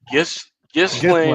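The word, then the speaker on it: Ghislaine: Uh, it's Gain. Gain is French. Yeah. Gistlane.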